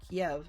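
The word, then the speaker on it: Kyiv: was a student in Eve and or Kiev as the Russian pronunciation would be and he um he and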